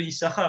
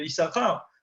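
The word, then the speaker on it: יששכר: Donc on prononce qu'un shin dans les 2 shins de Issachar.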